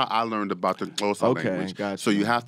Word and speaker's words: Xhosa: For this track, Kakuva is a word in the Xhosa language. Them clicks. I know. Them clicks. Let's get into that. Fam. Now, the Xhosa language, you have to do it with the click.